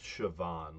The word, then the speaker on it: Siobhan: It's pronounced Siobhan, like with a V.